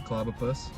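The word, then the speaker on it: Clobbopus: Yeah, that's a Clobopus. I pronounced it right.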